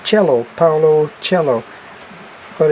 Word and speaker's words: Coelho: It might be Paulo, the way that it's pronounced, because he's Brazilian. And then it's Coelho, Paulo Coelho, but it's Coelho.